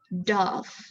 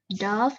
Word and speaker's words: dove: that picture number one dove dove is a bird while dove is a past ten all right so next